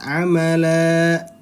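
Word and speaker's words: عَمَلًا: Apabila ada fathah tanwin bertemu dengan tanda waqaf, di sini kan tanda waqaf berarti dia mad iwad. Bacanya panjang 2 harokat. Amala, amala. Nah, hati-hati jangan kepanjangan ya. Amala 2 harokat.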